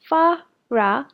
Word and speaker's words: Farah: It's pronounced Farra, like a dungeon dragon.